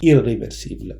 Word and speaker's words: irréversible: pas confortable à dire un inréversible peut-être mieux irréversible et là on fait l'assimilation la fusion le N devient un R et on le prononce irréversible simplement on progresse doucement